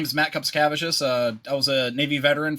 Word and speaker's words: Kupcikevicius: Kupcikevicius, you could say. It's the easiest.